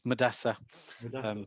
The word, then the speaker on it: Madessa: can avoid making mistakes with my name which is often mispronounced it's madessa very nice to meet